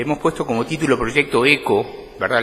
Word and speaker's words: Echo: puesto como título proyecto eco verdad le h no la pronunciamos en este caso es una iniciativa para